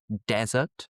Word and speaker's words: desert: And just on that note, some of my students will struggle between the pronunciation of a very very dry place like the Sahara, the Atakama, the Gobi Desert. Stress at the beginning desert.